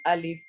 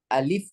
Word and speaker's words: अलिफ: ALEF, जो कि गलत है। पढ़ना है क्या? ALIF, अभी हमने बताया था ना। अलिफ पढ़ना है, अलिफ पढ़ना है, अलेफ नहीं पढ़ना है।